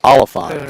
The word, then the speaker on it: Oliphant: Oliphant? Oliphant. Oliphant. Short O. Oliphant.